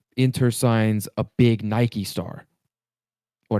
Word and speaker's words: Nike: And so, you know, say Inter signs a big Nike star or Nike star as a lot of Europeans pronounce it, like Nike, you then have Jordan, right?